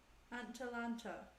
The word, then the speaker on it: Atalanta: Atalanta. It's like Atlanta, but it's like Atalanta. More A's involved.